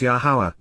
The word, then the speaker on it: Yahowah: from, Min, within, the family, Baith, household of Yahowah, Yahowah, the proper pronunciation as directed in his Torah, teaching.